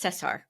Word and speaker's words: Cesar: Cesar is spelled Caesar, but it's Cesar.